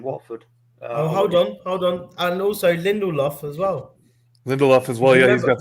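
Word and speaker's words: Lindelöf: Lindelof.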